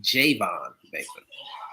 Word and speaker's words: Javon Baker: I believe it's pronounced Javon Baker.